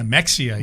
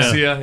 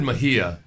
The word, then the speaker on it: Mexia: But it is always fun the first time you say Mexia. Yeah. Yeah. Oh, yeah. Mexia. Yeah. Mexia. Yeah. I always said I said Mahia.